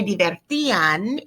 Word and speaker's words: divertían: It's an accent on the I. So todos se divertían, imperfect, when boom came the clouds.